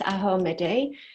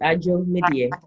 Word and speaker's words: Adzo Medie: do you want to correct the pronunciation of your name? Did I just screw it up horribly? It's peace, Adzo Medie.